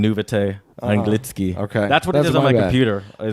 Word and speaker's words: anglicky: Oh, it's Anglitsky.